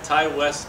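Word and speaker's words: Ti West: Ty West, absolutely fantastic.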